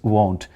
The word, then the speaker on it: won't: yeah different and and people usually don't know how to pronounce will not it is won't and it must be different from w n t that is want he wants to go